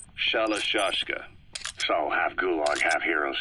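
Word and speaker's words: Shalashaska: known about that because somewhere along the line shoshka got stuck on the end of shiroshka the guerrillas were using the name amongst themselves by the time I got to hearing about it pronunciation had wound up as shalashka so half Gulag half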